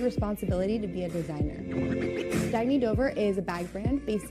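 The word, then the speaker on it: Dagne Dover: Oh, it's pronounced Dagny Dover. Dagny means new dawn.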